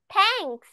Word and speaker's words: thanks: Tha, tha, tha, tha, tha, thanks. থ্যাঙ্কস। আমরা যখন এটা উচ্চারণ করব, তখন আমাদের যেমন ধরো দুইটা দাঁত রয়েছে, রাইট? দুইটা দাঁতের মাঝখানে আমাদের জিহ্বা থাকবে এইরকম। থা থা থা।